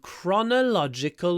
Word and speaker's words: chronological: list these events in chronological order there we go another word where is a c in English chronological Chon chronological chronological the stress is on this o here chronological order chronolog CH